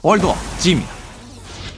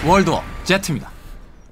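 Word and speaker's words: World War Z: 월드워 G입니다. 제트라고 해야 돼. 아, 제트라고 발음해야 돼? 월드워 제트입니다.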